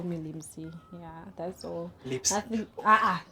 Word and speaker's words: Limsie: It's like like Lipsy. Like there's no P. It's just M. It's just Limsy. What's this take it easy?